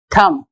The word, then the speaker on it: thumb: are not pronouncing p in thumb we are not pronouncing b so these letters which